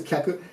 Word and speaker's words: 客: Thank you.Kyaku shitsu could be pronounced kaku, in this case kyaku.